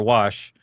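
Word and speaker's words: Warsh: when I did it I said that's country for wash uh if you want to know how to say it.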